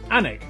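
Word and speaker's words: Alnwick: in quernmore quma before finishing up in alwick anik which is near Newcastle or as the people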